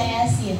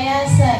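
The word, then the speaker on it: يس: Kenapa Yasin dibaca Yasin? Kenapa nggak Yasa gitu?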